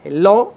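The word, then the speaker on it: לא: mismo nos da el significado no me compadecer lo en en hebreo es no se dice lo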